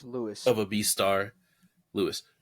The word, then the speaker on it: Louis: uh I forgot if his name is pronounced Luis or just Louis but you have the whole with him and the worth it's Lewis of a beast star Lewis um and I